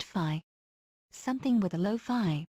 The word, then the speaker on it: phi: Pronounced phi.